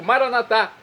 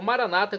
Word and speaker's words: Maranata: E agora eu clamo do dialeto de Jesus, o aramaico, Maranatá, como dizemos nós católicos, ou Maranata, como dizem nossos irmãos separados, os evangélicos ou protestantes. Não importa a pronúncia, o significado é o mesmo.